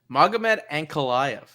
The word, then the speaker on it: Magomed Ankalaev: Magomed Ankalaev.